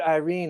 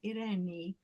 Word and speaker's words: Eirene: Eirene, sorry, I said Irene. I totally Americanized that. Sorry, Eirene. That's much more beautiful. Yeah. In Greek, I don't know if you know, I'm Greek, so it's in Greek. It's pronounced Eirene.